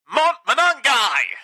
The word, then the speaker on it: Monangai: Monangai, I should say. I believe he picked up 6. So caught in the moment, I said his name wrong. Monangai.